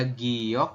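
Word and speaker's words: 기역: untuk konsonan tunggal ada Giok oh ini salah bukan goyok tapi giok ya giok niion kemudian setelah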